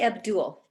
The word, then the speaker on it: Abdul: um is that right it's actually abdul oh abdul okay great welcome abdul